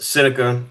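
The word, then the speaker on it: Seneca: Uh my name is pronounced Cynica. like the Native American spelling s e s e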